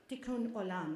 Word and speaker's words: Tikkun Olam: And it's actually my partner in interfaith dialogue, Rabbi Jordan Cohen of Temple Anshe Shalom, from whom I learned the term Tikkun Olam.